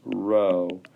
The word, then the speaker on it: Rho: that's a P yeah it's a Greek letter it's pronounced Rho it it is a